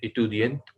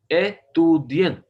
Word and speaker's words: étudiant: Je suis étudiant à la classe du français. À la classe du français. और जो सो इतुदियन, स्टूडेंट को कह रहे हैं एतुदियन, ETUDIENT, इंग्लिश में स्पेलिंग बता रहा हूँ।